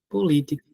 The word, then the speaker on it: política: lá ó po li política pronto Professor a palavra política vamos lá política a sílaba tônica é a antepenúltima perfeito toda palavra cuja